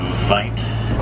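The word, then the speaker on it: wyd: Get the name from the mispronunciation of the Afrikaans word "vite," meaning wide, describing their wide mouths.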